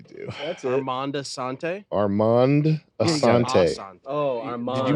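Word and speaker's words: Armand Assante: Don't know how it's spelled. Yeah, you do. That's it. Armanda Sante. Armand Asante.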